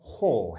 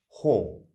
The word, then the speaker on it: haul: to survive your next long-haul flight the word hall h-a-u-l is pronounced hall now it means a distance to be traveled